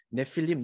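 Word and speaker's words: נפילים: 요드가 하나 더 들어가서 이제 이 발음이 길게 되는데 네필림, 네필림 이렇게 다른 이제 스펠링이 되어 있는데 사람들이 질문을 해요.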